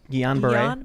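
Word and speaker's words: Guillain-Barré: in certain syndromes like uh how do you pronounce it again gianray guillain-barre so one of the arguments when there was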